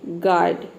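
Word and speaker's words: guard: number 14 है कि जब किसी वर्ड में जी के बाद अगर यू आता है तो वहां पे यू लेटर साइलेंट रहता है ठीक है अगर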